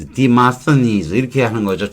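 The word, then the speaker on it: Demosthenes: 그리크 리마스테이너스 대모모스라고 하죠 근데 영어 발음은 demast demast deenes 그렇게 발음할 거예요이 고유명사라고 하는 것은 새로운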